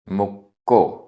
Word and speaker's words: मुक्को: मुक्को, आधा का पूरा का, मुक्को।